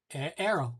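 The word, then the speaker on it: Airo: Arrow. I pronounce it Arrow. Arrow site designer. Arrow. That's what it is. Air, A-I-R, air, and then O.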